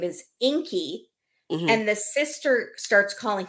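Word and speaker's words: Ingi: her boyfriend's name is Inky and the sister starts calling him Ingy because it's spelled i n GI but the G is pronounced like a k and so Fanny the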